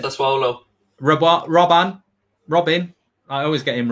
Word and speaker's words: Sassuolo: Sasula? It's not how you pronounce it. Sassuolo.